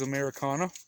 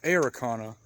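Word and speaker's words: Ameraucana: blue eggs she is Americana and it is pronounced Americana and not arakana if you guys watch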